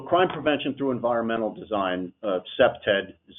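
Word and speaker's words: CPTED: Jane Jacobs so crime prevention through Environmental Design cept ed is how you pronounce the acronym what that is is we're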